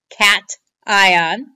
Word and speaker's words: cation: a positive ion is called a cat ion okay cation CA tion that's the name for a positive ion it's not pronounced ocation it's pronounced cat ion because it comes from